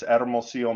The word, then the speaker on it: Hermosillo: I couldn't even pronounce the name. It's Hermosillo, Mexico, in Sonora, which is the northern desert of Mexico.